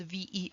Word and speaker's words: Versailles: something called the treaty of versailles and versailles is spelled v-e-r-s-a-i-l-l-e-s and it's pronounced versailles in the treaty of